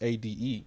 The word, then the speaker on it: Ade: uh Aaron Kingsley betola it's a d e not Ada Ade pronunciations it sounds African